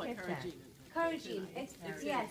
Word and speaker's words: carrageen: Like, could you spell it's it? It's C-A-R-R-G-E-N. Where did you get that? We call it carrageen.